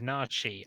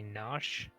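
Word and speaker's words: Narshe: it ah yes look says nachi i say nash oh i call it narshi or even nasha i don't know unfortunately that is the problem with like the old unvoice over games is that you just never know and even when the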